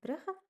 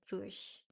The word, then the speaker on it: Brugge: Then, um me and my boyfriend went on a trip to Brugge in Belgium. I think the English way to pronounce it is Bruges. Not sure. But yes, we call it "Brugge".